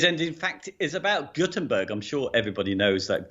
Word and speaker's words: Gutenberg: The way it's pronounced is interesting, because I say Gutenberg because I live in the north of England, and G-U-T is gut. Yes. Whereas everybody else seems to say Gut with a G-O-O-T, Gutenberg.